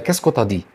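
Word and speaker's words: qu'est-ce que tu dis: طيب معظم الفرنسيين اصلا مش بينطقها كده، طيب انت هتسمعها ازاي علشان تفهمها وتقدر تقولها زيهم ازاي؟ طيب تيو انت هتحولها الى طا، يبقى كيسكو تا دي.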